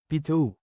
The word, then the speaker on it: pito: PITO is 7 in Bicol. Change I to the American letter, E, then pronounce it as Pitu.